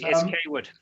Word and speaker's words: Kaywood: I think it's Coward, we pronounce it. Is that right? It's Kaywood. Kaywood, sorry. got a great question